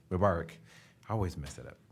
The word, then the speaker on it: Mubarak: Mubarak. Mubarak.